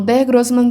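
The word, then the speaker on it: Der Großmann: Der Grossman, porque sim, essa letra se pronuncia com som de SS e não como B, tá? Então, o Dare Grossman seria uma fada que habitava a floresta.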